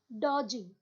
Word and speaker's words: dodging: is called as dodging your d is silent okay dodging next is